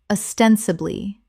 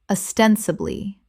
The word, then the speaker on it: ostensibly: Common mispronunciation. Ostensibly. Correct pronunciation. Ostensibly. Four syllables with the stress on the second, meaning apparently or seemingly.